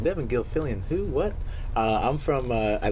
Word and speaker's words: Devon Gilfillian: His name is Devon Gilfillian.